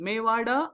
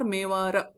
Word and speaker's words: मेवाड: Mewada or Mewara, both pronunciations are correct, is the name of the place, name of the kingdom.